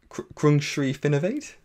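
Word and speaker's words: Krungsri Finnovate: at and actually Sam I'm good I'm gonna mispronounce this so I'm gonna go for it we're looking at crunch Reef innovate correct excellent yes excellent and Sam I'm also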